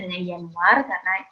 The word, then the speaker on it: Januar: penyebutannya yang berbeda jenisnya Januari yaitu dibacanya ya di sini Jerman itu Janu Janu Ardi Yanuar Yanuar Februari news itu maret-april